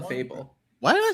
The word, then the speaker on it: Clefable: Clefable. Why did I say Clefable? Clefable. Trying something out. Able to be cleft. That's a verb. Yeah. It Will looks seeming like pretty a music clefable staff.